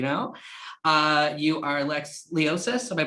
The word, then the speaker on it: Leosis: beats as you know uh you are lex leosis am i pronouncing that correctly correct yeah awesome so uh